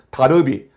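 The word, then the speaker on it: Darby: 지난주에 말씀드린 다비, 존 넬슨 다비, 혹은 다르비라고도 이렇게 발음합니다. 다르비, 다비 같은 사람입니다.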